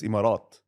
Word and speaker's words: Emirates: say pronounce it properly no Emirates you said it right Emirates or Emirates in in Arabic is imarat emirat so that's not that's correct habat anyway but yeah